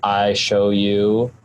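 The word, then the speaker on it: iShowU: download something it's called i show you audio capture it's spelled i s h o w u like the letter u i show you audio capture um i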